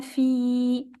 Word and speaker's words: في: And the ya is there to elongate the kasra I, fi. So make it a bit longer here. فهو في عيشة.